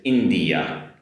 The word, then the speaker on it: India: Next up, different vowel sound here in English. It's India India compared to Japanese which is インド（In’dow）so India. Different vowel sound at the end. India.